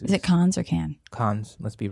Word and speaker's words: Cannes: It's Cannes. Cannes is an American thing. And No, Con. Cannes. Is it Cons? Cannes. The S is not silent. Can. No. Cons. Got it. Rhyming with Hans.